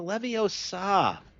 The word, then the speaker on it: Leviosa: It's Leviosa, not Levioso.